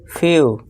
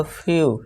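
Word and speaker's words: few: जब किसी वर्ड के लास्ट में ई डब्ल्यू आए तो ई डब्ल्यू का उच्चारण यू होता है। यानी लॉन्ग यू से ही देना है। अब एग्जांपल देखिए फ्यू। अब देखिए इसमें वर्ड में इस वर्ड में क्या आ गया? ई डब्ल्यू आ गया। तो उसका उच्चारण क्या होगा? फ्यू यानी कि कुछ।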